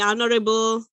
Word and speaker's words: honorable: language focus here so it's the honorable not honorable yeah the edge is silent the honorable the excellency sorry it's